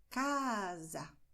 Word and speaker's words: casa: Portanto, você dirá casa. Veja, minha boca ela abre muito para eu dizer cá e depois ela se fecha para eu dizer za. A letra é a mesma, é a letra A, só que não é o mesmo som.